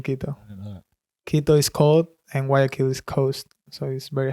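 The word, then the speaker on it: Guayaquil: Hill Ecuador where is how do you say wakil wakil that's the city like the main city in Ecuador and the biggest one also bigger than Kito yes bigger than Kito Kito is cold and wakil is Coast so he very hot and yeah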